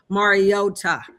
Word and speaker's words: Mariota: practice with the team to to support Marcus Mariota. I said that right because I was saying his last name wrong.